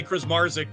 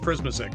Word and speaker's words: Krismazik: Well, some say Krismarzik too, but I grew up with Krismazik, so.